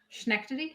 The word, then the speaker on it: Schenectady: Schenectady.